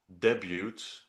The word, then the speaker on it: debut: Um from their debut debut. Debut. You have to pronounce debut. Yeah. Debut. Yeah. The T is silent because English written English does not make any sense.